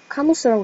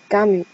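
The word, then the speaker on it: Camus: 알베르 까미 이렇게 읽겠죠? 그 U가 그냥 U가 아니라 입은 O를 만들면서 입 안으로는 E를 발음하는 그런 소리라고 근데 결코 위는 아니라고 그렇게 설명을 하시더라고요. 그래서 까미가 된 것 같아요. 까무가 아니라.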